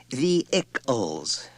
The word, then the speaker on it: vehicles: She said brightly when he had finished reading, It's pronounced vehicles, Richard. No H. Accent on the first syllable.